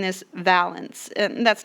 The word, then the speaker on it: valence: last note this valence you've been hearing me pronounce it valence it is pronounced valence and I'm just giving you a little bit